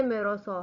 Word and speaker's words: Meursault: First character जो है ये मेरोसो है। ये असल में फ्रेंच नेम है जिसकी प्रोनाउंसिएशन कुछ इस तरह है MEUR। तो इसको मेरो SAULT को सो पढ़ेंगे, मेरो सो।